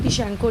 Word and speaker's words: Tishchenko: वो टाइशेंको रिएक्शन है, जिसको मैं तो टिश्चेंको बोलती हूँ मुझे बोलने में, क्योंकि वो मज़ा आता है। बट बेसिकली जहाँ तक मुझे आइडिया है इसका जो करेक्ट प्रोनाउंसिएशन है वो आपका कुछ इस प्रकार से टिश्चेंको रिएक्शन।